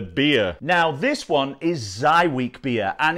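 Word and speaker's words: Żywiec: watchers without the beer now this one is zy week beer and it's spelt like this but it's pronounced like this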